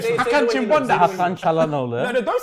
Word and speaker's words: Hakan Çalhanoğlu: Hakan Çalhanoğlu. Çalhanoğlu. Oh, aye, the Turkish man's telling me. He said pronounce it right as well. Hakan Çalhanoğlu.